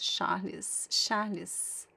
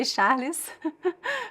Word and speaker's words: Charles: Charalis. In Portuguese, you say in Brazil, we say Charalis for the ch. You're telling me that your name is Charalis or Charles?